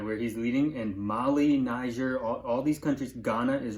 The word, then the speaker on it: Niger: Look up, there's Nigeria, where Izzy's from.